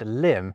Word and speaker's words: limb: They also thought, crumb, and limb should have silent B's at the end of them, like comb, lamb, and womb already did.